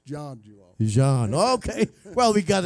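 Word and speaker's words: Zhang: julong yanchu long but it is spelled z-h-a-n-g i'm like him i thought it would be zang but it's john john okay well we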